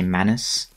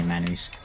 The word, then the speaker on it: Manus: snack on him and people sometimes bring up the way I pronounce man who's as most people just say Manus which you know I I'm not like trying to be clever or anything when I say man whose that's just literally how Goff says it